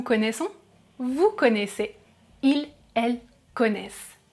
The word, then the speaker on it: connaissent: vous connaissez, ils, elles connaissent Be careful, I don't pronounce the final letters "ent" Let's move on to